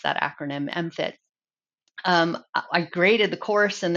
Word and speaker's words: MFIT: So um, the book and MFIT both, and that's how we pronounce that acronym, MFIT.